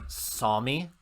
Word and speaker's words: Sommy: SOMMY. Sommy. No. So like Sunny, but with M's.